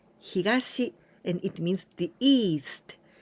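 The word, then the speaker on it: 東: Toyo and say yo this kanji here we pronounce higashi and it means the East and this one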